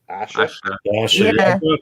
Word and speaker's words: Aisha: horse Hol states that Aisha is pronounced Asha that yeah I'll still see Aisha yeah me too as